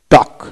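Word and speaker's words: talk: তারপরে টি এ এল কে, টক, টক, টি এ কে টক, টক কথাবার্তা বলা, টক।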